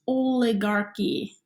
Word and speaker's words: oligarchy: those little boxes okay and then you have oligarchy yes that is pronounced oleg Archy okay so monarchy you've heard of before because